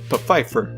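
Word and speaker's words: Pfeiffer: The Secret Diary of Desmond peifer yes that's actually how you pronounce it not too many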